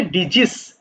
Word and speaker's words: disease: এই যে দেখো ডিজিজ, যদিও বানানটা একটু কঠিন, একটু ডিফারেন্ট টাইপ অফ বানান, এটার উচ্চারণটা হবে ডিজিজ, ডিজিজ।